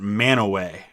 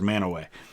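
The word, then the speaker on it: Mantua: it's up near cleveland we pronounce it manaway i know it doesn't look like that but that's what we call as manaway africa infected ships pass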